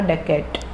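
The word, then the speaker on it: dacoit: English इसका pronunciation होगा डकैट।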